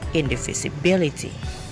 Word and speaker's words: indivisibility: That shows us about the different levels of the syllable. The syllable bill is the strongest one. That's why carrying primary stress. And the initial syllable in must become secondary stress. And the third syllable fish has a level of stress which is weaker than those two. And the second, fourth, sixth, and seventh syllable, they're all is unstressed.